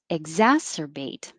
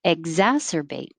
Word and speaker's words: exacerbate: trouble with exacerbate exacerbate i put a g here because when we looked it up in the dictionary they used a g so i wanted to keep it the same but same thing as before whether you put a spell it with a g or k your tongue is just going to that position exacerbate and excuse i